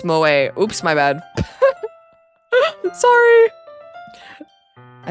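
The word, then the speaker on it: 萌え: That word is pronounced moe.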